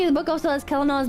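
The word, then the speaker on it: Celanawe: I thought it was Selena. He pronounced it Kelena. That's funny. Kelena. I guess it's Kelena. Now we know. Now that he's dead. Now that he's dead, we know how to pronounce it.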